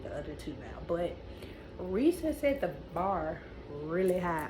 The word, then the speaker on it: Reese: I read this book I kept wanting to say rise and find that they pronounce Reese is I guess because the way it spelled but ree has the